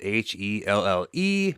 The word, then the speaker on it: Helle: Hence the it's going to be hella good cuz her name is spelled h e l l e, but it's pronounced Helle.